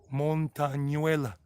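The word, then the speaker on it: ñ: it's called montanuella montagnuela with uh the end in colombia when it has a little symbol on top is pronounced the normal end without the little symbol on top is just but if it's got that little symbol on top of it kind of like a little wavy signal a sign i mean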